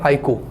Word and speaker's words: iQOO: देखा जाए तो इसका प्रोनाउंसिएशन सही है आईकू, पर ये जिसने भी किया, एक मिनट, जिल्ला वाला सलाम करते हैं।